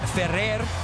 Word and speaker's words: Ferrer: It's Federer and David Ferrer. Thank you, Adriana, for the pronunciation.